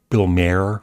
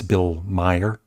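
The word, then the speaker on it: Maher: I said uh Bill Bill Mayer when that's Bill Meyer.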